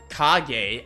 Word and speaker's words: Kage: Pronounce J like gay. Kage.